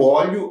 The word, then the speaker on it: olho: Veja que olho você pronuncia de forma aberta. Olho você pronuncia de forma fechada. A grafia é a mesma, mas a pronúncia é diferente.